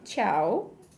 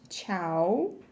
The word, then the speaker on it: tchau: expressão principal, tchau, que soa igual à expressão do italiano, tchau, the sound is the same, but in Portuguese it's written with T, A, C, and H, tchau, and U in the end, and in Italian it's written C, I, A, O, right?